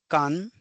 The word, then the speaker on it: 間: hiragana G which is hour or oock now can is a new this is a new kanji